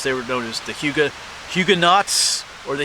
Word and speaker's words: Huguenots: They were known as the Huguenots or the Huguenots. The T is actually silent there, I believe, if we say it correctly.